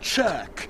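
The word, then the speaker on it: Chirk: are we are at church in wales and it's even spelt real funny as well it's spelt c-h-i-r-k but that's not the mystery but you still better tell us how come it's church what does it mean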